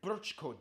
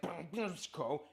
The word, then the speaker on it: Brčko: Then you have the weird Brčko district. I know, it looks like Brčko. It's pronounced Brčko.